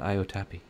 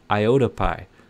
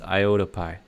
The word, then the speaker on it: Iotapi: It's not Iotapi. It's Iotapi. So now that I got it right, hopefully you guys will get it right. It's Iotapi.